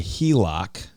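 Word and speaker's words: HELOC: those things except for the hilock which is just how we pronounce home equity line of credit but that's where I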